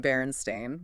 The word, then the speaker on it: Berenstain: Millions of people swearing it's called the Berenstain Bears, spelled with an e i n. When it's always been Berenstain with an a i n.